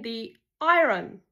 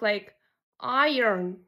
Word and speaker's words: iron: All my life I been saying the iron but pronounced like iron.